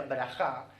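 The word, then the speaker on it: ברכה: que es la bendición la palabra bendición en hebreo se pronuncia brajá y viene de la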